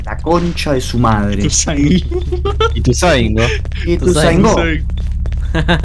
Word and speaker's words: Ituzaingó: Ituzaingó. Ituzaingó. Tiene el acento en la O en todos los lugares del mundo. ¿Por qué le pone? ¿Por qué le dicen Ituzaingó? Me acompañó ese Ituzaingó. No, pelotudo, Ituzaingó.